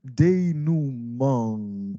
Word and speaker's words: denouement: Then comes climax and denouement. That's, I gave you the pronunciation. This is the French word. Denouement, that's развязка, right?